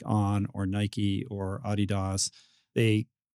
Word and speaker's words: Adidas: This is this is what people in track and field call it. I think that's the actual, you know, intended uh pronunciation of the German pronunciation. Yeah. So American track and field folk when they're amongst themselves say Adidas.